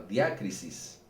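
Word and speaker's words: διάκρισις: quiero mencionar la palabra, la palabra griega es la palabra diácis, así con acento en la diácisis, como la crisis, diácis.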